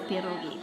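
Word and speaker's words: pierogi: You didn't roll the R. Perogi.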